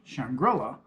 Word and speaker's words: Shangri-La: say shangri-la and yes it's a reference to shangri-la historically but it's specifically pronounced shangri-la for a reason has to do with the